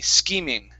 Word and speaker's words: scheming: this word here uh in this word the ch is actually pronounced like a k sound so the ch makes two sounds it makes ch here it is a k sound okay so it's ski scheming scheming scheming scheming very